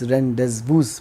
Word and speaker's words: rendezvous: Rendezvous, for example, is rendezvous. You will think it's rendezvous, but it's rendezvous because it's a French word.